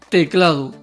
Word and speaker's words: teclado: Observa esta palabra, teclado. Pronúnciala tú y escúchate. ¿Cuál de sus 3 sílabas recibe la mayor intensidad al ser pronunciada? Muy bien, cla. Esa es la sílaba tónica.